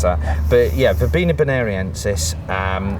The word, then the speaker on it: Verbena bonariensis: This is Verbena bonariensis. I'm glad you said that, as usual. Yeah, people do themselves an injury trying to pronounce that. But yeah, Verbena bonariensis.